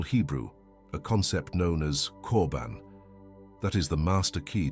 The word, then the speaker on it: korban: In the ancient Hebrew tongue, it is transliterated as korban, pronounced korban.